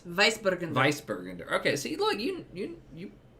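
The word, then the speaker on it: Weißburgunder: That's a double S. Weissburgunder.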